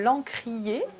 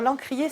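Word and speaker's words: L'Ancr'ier: lieu qui s'appelle l'encrier alors l'encrier ça s'appelle ça s'écrit pardon à ncr apostrophe y est c'est à la fois le mélange de lancre marine et c'est à dire de l'ancrage peut-être le territoire et enfin voilà et puis de lancre des livres parce que c'est un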